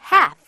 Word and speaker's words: half: 여러분, half. L 발음 안 나요.